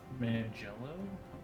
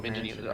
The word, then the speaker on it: Manganiello: Oh, is it Joe Mangello? Manganiello? Yeah, Joe Manganiello. Manganiello. I butchered that last name.